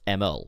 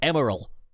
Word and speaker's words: Emerl: So, like, you know, people called me out for pronouncing Emerl as Emerl, like the character from Sonic Battle. Some people are like, no, it's pronounced Emerald. But it doesn't, it's not spelt that way.